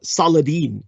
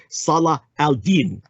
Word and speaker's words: Salah al-Din: he would learn that it wasn't just uh saladin which is a vulgarization but salah al-din salah al-din that it wasn't just